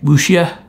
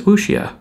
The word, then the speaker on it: wuxia: But it's a, what do you call it, wuxia?